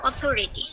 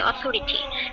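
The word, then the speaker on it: authority: উপরের পাটির দাঁত নিচের পাটির দাঁতের মাঝখান দিয়ে কি জিহ্বা বের হবে, স স অথরিটি, ঠিক আছে, অথরিটি এভাবে বলতে হবে।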